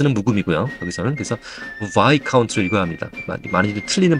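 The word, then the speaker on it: Viscount: 카운트가 아니고 y 카운트에 s 음이고 여기서는 그래서 y 카운트로 읽어야 합니다 많이들 틀리는 발음인데 좀 조심해야 돼요 그래서게 작 그다음에 숫자도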